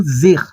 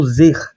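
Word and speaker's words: זה: Temos aqui o pronome demonstrativo zer. Zer significa este no singular. Temos aqui o sein, que é o nosso Z, temos o segol, que é o nosso E, e temos o re, que é o nosso H.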